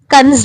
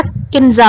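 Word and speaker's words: كنز: होता है जिसका नाम कंज हो या किन्जा हो। यह गलत है कि हम इस नाम को किन्ज बुलाते हैं, लेकिन इसका सही प्रोनाउंसिएशन, सही अदायगी कंज है।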